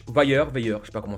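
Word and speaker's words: Vayer: Ça se prononce vailler."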